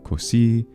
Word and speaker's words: così: Italians, and that's because the traditional pronunciation of the S intervocalically for the majority of words is voiced, but there are several words in traditional standard Italian pronunciation that are retained as voiceless, and those include così, caso, cosa, naso, mese, riso, sorriso, of course, as well, and peso.